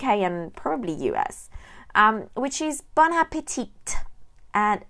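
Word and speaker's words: bon appétit: is Bon Appetit and yes you pronounce all the letters you need to say Bon Appetit sounds very strange in English to a French person but that's how you need to say it because if you say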